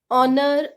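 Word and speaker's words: honour: बोलेंगे science silent ह किसी वॉवेल से पहले ह हो तो ह साइलेंट रहता है लाइक और ऑनर ऑनर इसमें वावेल से पहले यानी ओ से पहले ह ए रहा है तो हम ह को साइलेंट रखेंगे और नहीं बोलेंगे और बोलेंगे सो गैज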